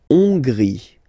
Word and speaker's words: Hongrie: La Hongrie. So remember, H doesn't exist, so you don't pronounce it. So it starts with O-N, on, and then gris, final E, not pronounced.